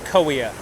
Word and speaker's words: Kaweah: Originally it was Gowea. The Native Americans named it that, and the settlers mispronounced the G, so we have Kaweah in the 1800s when they came.